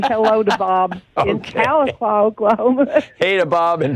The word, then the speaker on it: Tahlequah: It only took you about 10 years, but you learned to pronounce Tahlequah, Oklahoma. And I'd like to say hello to Bob in Tahlequah, Oklahoma.